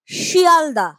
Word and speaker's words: শিয়ালদহ: লোভ পায় যেমন ফলার শিয়ালদা আসল শব্দটা কি ছিল ফলাহার তার থেকে উচ্চারণে হয়ে গেল ফলার আসল শব্দটা ছিল শিয়ালদহ তার থেকে হয়ে গেল শিয়ালদা এই যে ফলাহহার হ